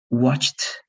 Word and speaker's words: watched: You need to know when you're going to pronounce the ED like T, watched, washed, liked, traveled, fixed, and when you're going to pronounce that like ED, like wanted, started, right?